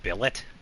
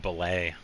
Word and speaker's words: billet: It's pronounced billet. Okay. So, don't be stingy when investing in your smi cuz I've been saying blelet.